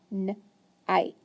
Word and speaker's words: night: And we know I, G, and H just makes the sound I. So it's a long I and a silent G and H. So then when I sound it out, I would just sound out night.